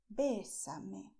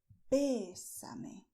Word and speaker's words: bésame: Bésame, stressing the e, bésame.